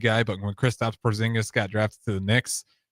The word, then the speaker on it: Porzingis: but when Chris Stops Porzingis got drafted to the Knicks. Knicks fans lost their mind. They couldn't even say his name. They called him Poringis.